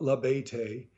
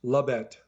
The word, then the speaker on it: Labette: that Lae no ma'am not Lae it's two syllables Labette shangry Louise swiveled her